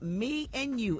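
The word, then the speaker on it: Mianu: It's called Me and You, and it's spelled M I A N U.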